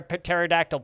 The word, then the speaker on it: pterodactyl: can't you hear a pterodactyl p it's because the p is silent yes but i will